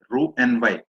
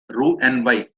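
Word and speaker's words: Roux-en-Y: Ru n y bypass Ru n y x is silent Ru n y bypass okay okay yeah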